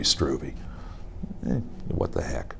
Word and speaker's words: Struve: your honor does but given my preference it' be stroovy what the heck said